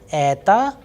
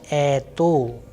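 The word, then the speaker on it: это: that is why why i am pronouncing ether and not etho because simple because of the vowels rule that once the stress is falling onto a the next vowel which is o will sound like ah so a short weak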